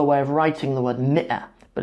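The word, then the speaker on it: مئة: However, there is another way of writing the word mi'ah, but it's written like this. Okay, but they're both pronounced mi'ah.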